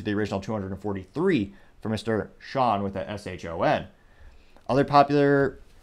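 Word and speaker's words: Shon: Someone by the name of Sean Phillips. But it's spelled S-H-O-N.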